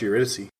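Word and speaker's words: Eurydice: as I'm also sure it's pronounced uriy oh U I've been saying uise haven't I it is uriy you're actually super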